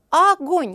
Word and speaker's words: огонь: слова так нельзя конечно ставлю ударение ударение падает на второй слог ну а теперь действую по алгоритму огонь говорим мы и слышим